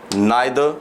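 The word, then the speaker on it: neither: दो subject आइदर और नाइदर नॉर, आइदर और की हिंदी होती है या तो या, इसे हम ईदर और भी बोलते हैं, नीदर नॉर भी बोलते हैं, जो सही प्रोनाउंसिएशन वही रहती है ना।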